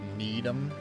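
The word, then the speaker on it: Needham: Did you know that in Massachusetts there's a town called Needam, but it's spelled need ham.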